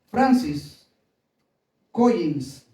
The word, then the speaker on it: Francis Collins: Francis Collins se pronuncia.